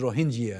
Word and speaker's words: Rohingya: in burma then so the proper pronunciation is rohingya not rohingya not rohingya rohingya rohingya or india what does